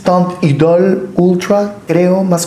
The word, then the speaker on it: Teint Idole: Esta es la lancom tant Idol Ultra cushion foundation Esa es la pronunciación en francés tant Idol Ultra creo más o